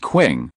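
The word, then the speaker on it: 磬: The chime is pronounced qing, which is a musical instrument that monks strike when chanting.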